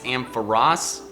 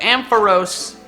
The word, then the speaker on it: Ampharos: TrueGreen7 did a video lately where he went over how to pronounce several different Pokemon names, and apparently it's Ampharos, but I just like, I don't know, I